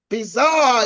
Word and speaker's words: bizarre: the French language now normally the French pronounce it differently they say a situation is actually bizar they say situation is bizar to mean it's strange